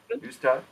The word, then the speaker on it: Neustadt: Did I pronounce it correctly this time, Lorina? Neustadt?